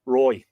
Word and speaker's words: Roig: Now, it's spelled differently here. R-O-I-G, Roy. I think that's how it's pronounced, Roy.